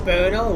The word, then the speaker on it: Brno: I think it's pronounced Brno, which is in the Czech Republic.